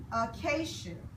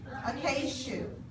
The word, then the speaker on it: acacia: This is pronounced acacia. I'll say it together. Acacia.